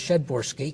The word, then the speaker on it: Przedborski: pronouncing it incorrectly because it starts with PRZ, and I've been calling you Przedborski, and you never corrected me. And then one day I learned it was Przedborski because it's Polish.